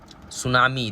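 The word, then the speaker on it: tsunami: सी R called सुनामी सुनामी spelling क्या होता है टी से शुरू होता है टी एस यू एन ए एम आई T silent ठीक है क्लियर हो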